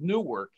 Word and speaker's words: nuwork: his new project his big project is called new work n-u-w by the way you said it right